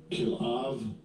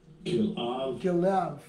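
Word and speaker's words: כלאב: His second chelub and this is how they pronounce it. Strong's H3609. Kilav. Kilav. Kilav.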